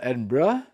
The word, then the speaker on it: Edinburgh: All right, now we're going to move to Edinburgh, not Edinburg. So uh apparently it's pronounced if you're local Edinburgh or Edinburgh.